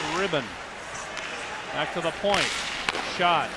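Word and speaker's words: Rydan: number 39 maximum ribbon r-y-d-a-n pronounces it ribbon back to the point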